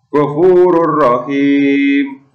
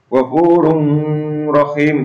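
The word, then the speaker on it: غَفُورٌ رَحِيمٌ: Selanjutnya, ghafurur rahim. Ini juga ada tanwin atau dhammah tanwin bertemu dengan huruf ro. Ini juga tidak boleh mendengung. Ghafurur rahim, itu contoh yang salah.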